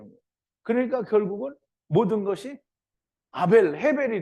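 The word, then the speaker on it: הבל: 그러니까 결국은 모든 것이 헤벨이 된 거예요. 이 영어로는 이 아벨을 헤벨이라고 하더라고요. 헤벨. 그래서 어쨌든 발음이 히브리 발음이 헤벨인 겁니다.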